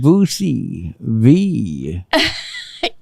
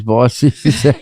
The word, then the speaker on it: Bossie: coming to the stage, Boosie V. And I was like, oh hell no, nah, but she corrected I that. Nah, my name's Bossy.